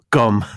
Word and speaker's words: gqom: It's spelled GQOM. And you basically say it with a click and then gom. It's like gom, but I can't even do that.